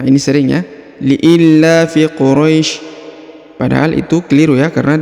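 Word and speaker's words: قريش: cara bacanya liii Qurais ya lifi Quraisy Quraisy kemudian perhatikan huruf RO dipanjangkan boleh dua boleh empat boleh enam karena di depan huruf ro terdapat Ya Sukun yang ini sebelum huruf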